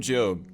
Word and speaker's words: Job: Hi, I'm Job, spelled like job, and we're just going